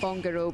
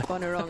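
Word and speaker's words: Bonorong: it wrong Bon wrong I keep calling it Bongo but it's Bon wrong or something like that is it I keep saying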